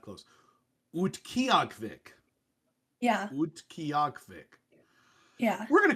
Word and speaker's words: Utqiagvik: Utqiagvik. All right, now I'll look at the pronunciation. Oh, relatively close. No, not close. Utqiagvik.